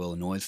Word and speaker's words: Illinois: they're out of chicago illinois they've been in the i keep saying illinois is it illinois no it's illinois no s i think right but i always